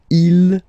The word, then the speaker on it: ils: Okay, so you can notice that even if you've got this S at the end, and then here you don't have anything, well, you pronounce them the same way. Okay, il, singular form, il, plural form.